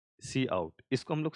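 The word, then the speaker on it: cout: ठीक है, ऐसा आप ये हम लोग इस तरीके से इसको प्रोनाउंसिएट करते हैं, सी इन और सी आउट।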